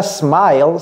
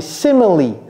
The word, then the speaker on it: simile: C'est pas smile, smile? C'est ce que j'ai sur mon visage tout le temps, 24 heures sur 24. C'est quoi? Ça, c'est quoi? C'est simile. Simile.